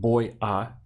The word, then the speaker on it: voy a: And we say it all as one word. Voy a. Okay, so don't separate them, voy a, because it'll slow you down and it'll also sound strange.